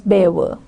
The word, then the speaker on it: Belvoir: They put milk in their tea, drive on the wrong side of the road, pronounce Cholmondeley as Chomley and Belvoir as Bever.